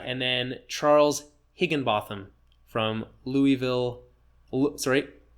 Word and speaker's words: Louisville: good dude uh and then Charles higinbotham from Louisville sorry Louisville if I'm gonna say it properly Louisville Kentucky